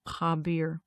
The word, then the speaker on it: Khabir: And the Khabir is spelled KH, like the KH, and then A, B as in boy, I-R, Khabir, Khabir.